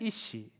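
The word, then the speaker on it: אִישׁ: 또 히브리로 히브리어로 보면 이제 남자는 이시, 여자는 이샤. 남자 여자라는 그 한글만 보면 서로 완전 다른 존재 같잖아요. 근데 어 히브리어 원래 표현으로 보면 비슷한 발음입니다.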